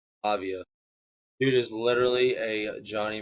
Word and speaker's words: Pavia: Fernando Mendoza and Diego, how do you pronounce his name? Pavia. Pavia.